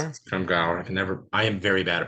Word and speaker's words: Scrimgeour: I can never pronounce Scrimgeour? it. Scrimgeour.